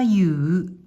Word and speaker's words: 右: これは左右、左右、左右。